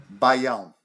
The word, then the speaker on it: baião: There's baio, is that how you say it? Bayon or Baião.